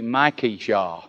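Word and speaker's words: Micaiah: So it shouldn't be Micah, it should be Micah Jah.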